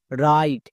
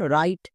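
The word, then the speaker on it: write: এর উচ্চারণ কি দাঁড়ালো রাইট এখানে কিন্তু ডব্লিউ এর উচ্চারণ হয়নি তাহলে আমরা মনে রাখবো ডব্লিউ এর পরে যখনই আর দেখতে পাবো ডব্লিউ এর উচ্চারণ করবো না যেমন রাইট একই রকম ভাবে দেখো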